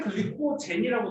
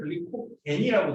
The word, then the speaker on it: 글리코젠: 어떤 책에는 글리코젠이라고 돼 있고 어떤 책에는 글리코겐이라고 돼 있는데 젠이 영어식 발음이라서 따라합니다. GEN으로 끝나거든. 옛날에는 약간 독일식 발음을 따라하고 겐이라고 돼 있는 책은 좀 옛날 책.